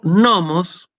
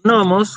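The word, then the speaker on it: νόμος: Pero si yo digo jo nomos, con el acento en la primera omicron, significa la ley, ¿sí?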